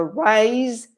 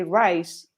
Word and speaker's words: rise: with um the sound the sound of the s is so rise and raise you know it vibrates this which is a sound that we don't have in spanish so you're tempted to say rice and not rise also the vowel sound is